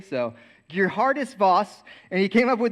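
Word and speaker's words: Geerhardus Vos: wrote his name down because I could barely pronounce it it's a Princeton Theologian his name was GE Hardis Voss and that's how you say it I looked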